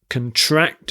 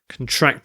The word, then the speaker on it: contract: on pronunciation for contract if you're using it as a noun it's the first syllable that's stress so contract is the